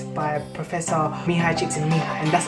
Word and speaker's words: Mihaly Csikszentmihalyi: The book is called Flow and it's by Professor Mihaly Csikszentmihalyi. And that's how you say his name, Mihaly Csikszentmihalyi.